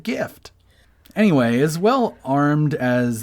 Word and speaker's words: GIF: present his case quote the word gift is the closest word to gif and it has a hard g to pronounce gif just say gift without the t what does he mean